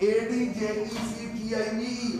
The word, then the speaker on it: adjective: The word which qualifies noun or pronoun is called adjective. A-D-J-E-C-T-I-V-E. How will pronounce it? Adjective. Adjective. D is silent.